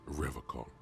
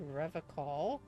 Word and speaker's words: Revachol: pronounces Revocol with a hard K, unlike other people. Right, that caught my attention too. You said Revocol?